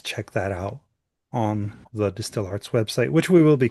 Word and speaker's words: DSTL Arts: Distill Arts, as it's actually pronounced, is a nonprofit arts mentorship organization that inspires, teaches, and hires emerging artists from underserved communities.